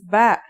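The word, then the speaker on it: باء: in this lesson don't our first letter of this lesson is ba and yeah it makes a b sound you can remember this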